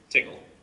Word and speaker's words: Tcl: verified this is accurate, Tickle, TCL, tool command language. I watched videos from the annual conference, which is not called TickleCon for some reason. Make sure I was pronouncing it right, but it's Tickle.